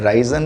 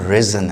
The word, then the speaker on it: risen: राइजन होगी? नहीं, इसकी प्रोनाउंसिएशन रिजन है, रिजन।